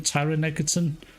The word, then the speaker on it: Taron Egerton: That's Taron Egerton. That's how you say his name, Taron Egerton.